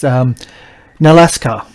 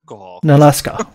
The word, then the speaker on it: Nalaska: Nalaska. Alaska. Nalaska. The proprietor, the owner of the inn. Like Alaska with an N?